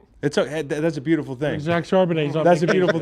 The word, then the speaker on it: Charbonnet: Charbonnet. Charbonnet.